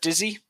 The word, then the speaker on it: dizzy: The word dizzy, you pronounce with an E instead of an I. I see. Dizzy, not D. D. Dizzy.